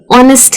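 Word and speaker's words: honest: लेकिन कुछ ऐसे वर्ड्स भी हैं इंग्लिश में जैसे कि आवर है, एयर है, ऑनेस्ट है, ऑनर है। उन सब में एच को साइलेंट रखते हैं।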